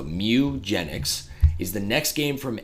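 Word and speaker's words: Mewgenics: game announcement no it's it's spelled like the Pokemon Mew so Mew genx is the next game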